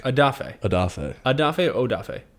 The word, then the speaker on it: Odafe: i i would love to get your opinion adafe adafe adafe adafe odafe it's spelled o d a f e o d